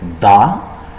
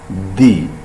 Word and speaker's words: the: pronounce like da and sometimes we pronounce like di when da and when the actually before consoling sound the word starts with if the word starts with a consonant sound we use da and when the words